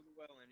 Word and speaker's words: Lewallen: How do you pronounce that? Boo Lewallen? Lewallen? Boo Lewallen, yep.